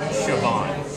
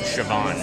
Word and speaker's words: Siobhan: I can't figure out it's GIC it's oldish and and G the BH makes a v sound okay so it's shoban yeah you got it shoban shoban for everybody who always writes in and how do you say it that's how you say it sioban Magnus not